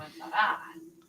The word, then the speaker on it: comenzará: Comenzará. We gotta put the emphasis on the last A.